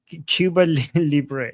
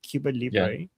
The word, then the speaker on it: Cuba Libre: So, right now we have Amazia, Long of America, uh Cuba Libé, Libé. Am I pronouncing it right? Cuba Libre and then Javicha and Pandera.